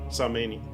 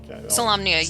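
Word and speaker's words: Solamnia: Salamania. How you say it? Salamnia, you got it.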